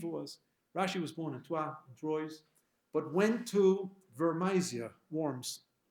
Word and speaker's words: Troyes: Rashi came from a town in northern France called Troyes, which is written Troyes. Troys, pronounced Troyes. I think I got it right. My fellow Frenchies in Ol Nechama, they would correct me right away. Troyes.